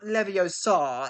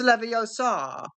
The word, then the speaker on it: Leviosa: It's not Leviosa, it's Leviosa.